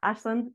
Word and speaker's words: Aislinn: myself my name is Ashlin it does not look how it sounds um it's an Irish name so yeah it's pronounced Ashlin um I've been an